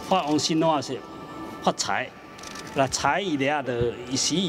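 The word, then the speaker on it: 财: 有 CIE。Par exemple, vous pouvez voir partout l'inscription CAI, donc qui se prononce Cai en chinois, qui a exactement le sens de fortune.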